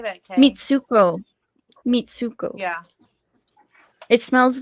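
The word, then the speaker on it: Mitsouko: Mitsuko.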